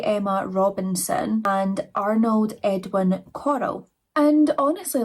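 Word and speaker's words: Corll: So Dean Arnold Coral, I'm going to have to say his name like Coral because Coral Scottish people, we can't do it right.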